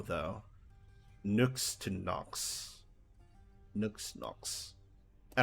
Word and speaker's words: Nyx: Greek letter Upsilon um that is pronounced like the letter u u so when I